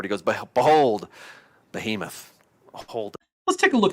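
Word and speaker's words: בהמות: that word behemoth um so in Hebrew that's behemot which is interesting because it's the plural form form of beema and beema means cattle we can see this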